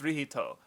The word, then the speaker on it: Licht: l-i-c-h-t I think um which is pronounced rihito basically but so the fan